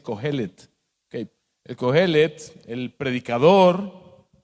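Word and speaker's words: Qohelet: me corrigió, me dijo, no se dice Coelet, se dice Cohelet.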